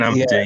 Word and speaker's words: Ampadu: Is it Ampadu? Am I pronouncing that right? Yeah, Ethan Ampadu, yeah.